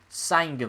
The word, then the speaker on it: Saengkham: Nopon Sangam, 20. Sangam apparently is how the referee's pronouncing it, but I think it's Sangam.